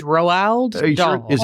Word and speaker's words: Roald: It's like Ronald without an N. Right. It's Roald Are you sure?